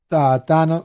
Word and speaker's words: Thanos: Than. Not Don.